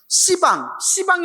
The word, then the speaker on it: 시방: 예, 그래서 10방이라고 하면 안 되고 시방이라고 발음합니다. 시방. 예, 10방 하면 발음이 세잖아요. 그래서 시방이라고 합니다. 아시겠죠?